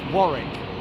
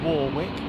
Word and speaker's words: Warwick: The American name uh incorrectly pronounced for the day is Warwick. It's Warick. It's not Warwick.